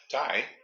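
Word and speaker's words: Taime: It's TAI. So what kind of food did I just mention? If you just saw TAI, how would you pronounce that? Tie. Me down.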